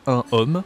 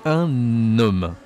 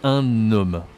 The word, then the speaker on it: un homme: Donc on dit un homme. D'accord ? On doit prononcer la liaison.